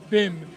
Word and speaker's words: bem: as Bim or Bim it's spelled bem but it's pronounced Bim and it means they